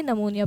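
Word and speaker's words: pneumonia: इसके अंदर पीसाइलेंट होता है। निमोनिया पढ़ा जाता है।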